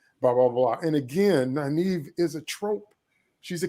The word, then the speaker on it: Nynaeve: And so then Lana Moraine escape on horseback, and then we get Nynaeve. Am I saying it right? Nynaeve, yeah.